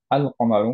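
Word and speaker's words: القمر: আল কমারু মানে বিমুন। দাম মুনের ক্ষেত্রে আমাদের লামটা আমরা উচ্চারণ করছি। আল কমারু এটা একচুি মার্জ হয়ে যায়নি পরের লেটারের সাথে।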